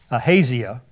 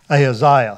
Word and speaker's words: Ahaziah: Now, if you're from Indiana, you might pronounce that Ahaziah, but I pronounce it down in Texas, Ahaziah.